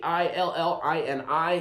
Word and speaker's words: Illini: Rich, it's spelled with an I, not an A. Starts with an I, not an A. I-L-L-I-N-I, Illini.